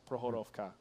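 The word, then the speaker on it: Prokhorovka: Please continue to help me pronounce Prohorovka correctly. It's a harder K.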